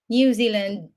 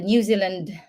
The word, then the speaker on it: Zealand: New Zealand New Zealand previously I was just saying New Zealand which is actually wrong New Zealand because of the EA which is a long which is having a long e sound I'm correcting myself right